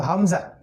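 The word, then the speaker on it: همزة: এই যে একটা হচ্ছে হামজা একটা হচ্ছে হামজা এই যে এটা উল্টা দেখা যাচ্ছে জানি এটা হলো হামজা আমরা একদম নিচ থেকে বলবো হামজা হামজা হামজা তারপরে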